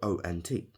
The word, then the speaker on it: ont: Remember that T is silent, even though it's spelled O-N-T.